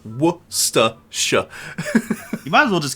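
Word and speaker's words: Worcestershire: That's that's what you guys are doing by calling it Waschester Shire sauce. You're you're doing the exact same thing. It's wor. It's not even hard to say. Worsha.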